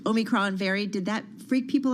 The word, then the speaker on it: omicron: season did the um omnichrome variant did i say it right omicron omicron i knew i said it incorrectly omicron very did that freak